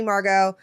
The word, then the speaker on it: Margeaux: Margeaux is spelled like Papado. It's Margeaux.